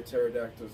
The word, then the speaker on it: pterodactyl: Why don't you hear pterodactyls go to the bathroom? I don't know why not. Because the P is silent.